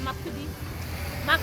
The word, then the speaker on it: Makurdi: They said it's pronounced Makurdi of Benue State.